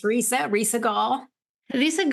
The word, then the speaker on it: Risa: Let me know if I pronounce correctly your name. Risa. Yes, it's Risa.